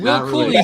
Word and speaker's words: Cooley: But I think it's Will Cooley, right? That's how you pronounce it? Cooley, yes.